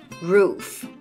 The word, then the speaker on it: roof: Roof Roof นะ คะ ตัว R ม้วน ลิ้น นะ คะ ตัว f เสียง ท้าย สำคัญ ที่ สุด ใน ค่ะ ภาษา อังกฤษ นะ คะ ต้อง มี เสียง ท้าย ซึ่ง มัน เป็น การ ออก เสียง ที่ ไม่ เหมือน ภาษา ไทย ภาษา ไทย ไม่ มี เสียง ท้าย นะ คะ ภาษา อังกฤษ มี นะ Roof Roof นะ คะ ออก เสียง นิด นึง ไม่ ต้อง ออก เยอะ มาก Roof อย่าง ง นี้